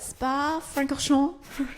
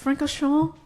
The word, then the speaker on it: Francorchamps: Spa-Francorchamps. Francorchamps.